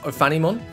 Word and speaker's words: Ophanimon: someone said it's pronounced Ophanimon.